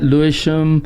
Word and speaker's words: Lewisham: Yeah, Lewisham.